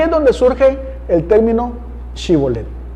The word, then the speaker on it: Shibolet: Si él respondía que no, entonces le decían, ahora pues di Shibolet. Y él decía Sibolet, porque no podía pronunciarlo correctamente.